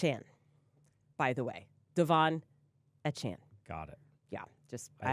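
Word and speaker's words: Achane: too hard it's aan by the way Devon a Chan got it yeah just I have to pause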